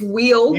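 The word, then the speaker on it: Weald: It's wheeled with a D, but it's spelled we A L D.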